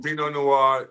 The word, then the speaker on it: Vino Noir: Am I yeah, Vino pronouncing it? Noir. Yeah, Noir? Vino Noir, Wine bar.